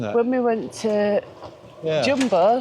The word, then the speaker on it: Jumbo: When we went to Jumbo, not Jumbo, but it's actually pronounced Jumbo. Jumbo, yeah.